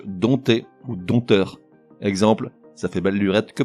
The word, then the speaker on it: dompter: le mot épié je puisqu'il s'écrit avec un P devant le thé des ompt TER et pourtant ce P ne se prononce pas il muet on dit donc dompter exemple ça fait balburette